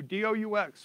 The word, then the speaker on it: DOUX: It's by the Doux, D-O-U-X, pronounced Doux. I guess it's a French thing.